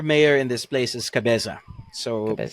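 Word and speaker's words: Cabeza: By the way, uh just so you know, the proper term for mayor in this place is Cabza. So, how do you spell that?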